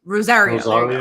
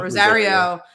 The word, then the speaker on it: Rosario: c2e2 uh uh dawson wrote how do you pronounce her first name is wrote rose rosario rosario rosario rosario dawson she had a panel and